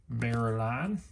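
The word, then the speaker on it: Beuerlein: Steve Barreline.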